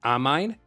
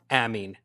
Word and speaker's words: amine: I know that it's kind of weird that it has this pronunciation. You would expect more like amine, but you can check through all the internet and through many different references and dictionaries, and the right pronunciation is amine, amine, amine.